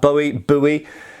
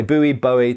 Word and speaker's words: Bowie: I understand that a lot of people strongly believe it should be pronounced Bowie. I have to say the name is originally from Scotland, and there's lots of people that surname in England, and we traditionally say Bowie, at least in an